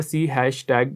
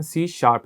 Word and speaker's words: C#: आगे लिखा हुआ है सी हैशटैग लोग इसको सी हैशटैग प्रोनाउंस करते हैं जो खास तौर पे हमारी सोशल मीडिया की जनरेशन है लेकिन इसकी प्रोनाउंस एशन सी शार्प है और सी शार्प एक